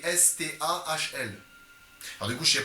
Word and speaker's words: Stahl: Stahl ça s'écrit S-T-A-H-L. Alors du coup je sais pas ça se And prononce. it's Michael Stahl.